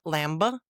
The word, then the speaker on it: lamb: Not thumba, not lamba, not klimba, but thumb, lamb, and climb.